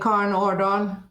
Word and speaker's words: Karen Aardal: In Norwegian, I would just say Karen Aardal.